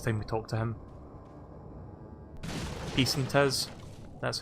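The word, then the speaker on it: pesetas: Peace and Tiz, that's how you pronounce it apparently.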